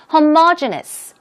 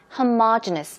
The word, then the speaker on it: homogeneous: board is informal so keep it in mind homogeneous that's the pronunciation homogenous one more time homogeneous we're talking about similar okay similar as in ethnicity for example ok homogeneous minut this word it is spelled the same